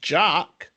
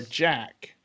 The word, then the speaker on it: Jacques: well sorry thank you did you know jacques name is pronounced differently by different characters with some calling him jock or jack he responds to them all equally and jacques high-pitched rapid